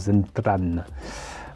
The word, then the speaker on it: Zentradi: Parce qu'il faut quand même rappeler qu'en fait, ça se prononce, en tout cas au Japon, il me semble que ça se prononce Zentran.